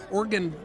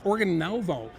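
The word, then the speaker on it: Organovo: but there is a new stock called Oregon let me pronounce it correctly it's organ novo and it's amazing what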